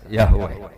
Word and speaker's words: Yahweh: Ya paham ya, Tuhan Yahudi tunggal niku Yahweh, napa? Yahweh. Iku nak teng ejaan Latin Y besar, A H besar, W E H besar, Yahweh.